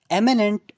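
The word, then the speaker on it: eminent: okay the next is एमिनेंट versus एमिनेंट pronounce एशन आपको same ही मिलेगी लेकिन यहां पर लेटर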